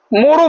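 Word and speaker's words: more: এম ও আর ই, মোরও বলা যায়, তবে শুদ্ধ হচ্ছে মো, মানে ওই রটাকে আমরা উচ্চারণ করব না, এটা হচ্ছে শুদ্ধ, মানে একদম সম্পূর্ণ শুদ্ধ আর কি।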